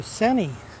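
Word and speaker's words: Seney: milk too welcome to sunny i guess that's how you pronounce it cine sc ney a little town seems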